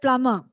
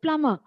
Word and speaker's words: plumber: K is silent but in words like plumber p l u m b e is a silent sound okay it is just plumber but we tend to